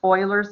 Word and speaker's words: Euler: It's pronounced Euler's number, just like Houston Oilers, if you're old.